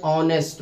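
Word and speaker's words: honest: है, ही इज एन ऑनेस्ट मैन। ऑनेस्ट में हमारा ये एच जो है ये वावल नहीं है, लेकिन ये एच जो है ये साइलेंट है और ओ की आवाज यहाँ पैदा हो रही है, इसलिए हमने एन आर्टिकल का इस्तेमाल किया।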